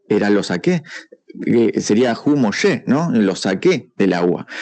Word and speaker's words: Moisés: Nosotros le decimos Moisés, pero bueno, originalmente se pronuncia Mosé, ¿no?